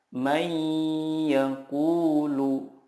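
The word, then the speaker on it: من يقول: Cara membacanya adalah meleburkan nun sukun ke huruf berikutnya dan disertai gunnah yang dipanjangkan 2-3 harokat. Contohnya, nun sukun bertemu ya, may yaqulu.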